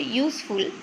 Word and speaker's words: useful: So here the word useful, it is sounds as U.